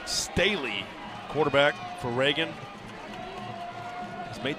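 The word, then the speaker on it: Sthele: Travis Staley will bat now. Spelled S-T-H-E-L-E, but pronounced Staley.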